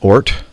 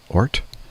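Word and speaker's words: Ohrt: Aaron Ort. I would imagine that's the way you pronounce O-H-R-T. Ort.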